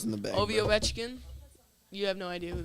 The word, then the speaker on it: Ovechkin: nickname Ovi, but it's Ovechkin, but it's like it's Ovechkin.